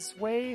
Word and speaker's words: zwei: Ein is pronounced that way in German for 1, and Zwei from its evolution, Zweilous is 2, or Zweilous, while Dry from Hydreigon is 3, all pronounced with the I syllable.